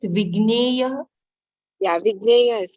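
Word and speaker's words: विज्ञेय: The pronunciation is correct. Vigneya.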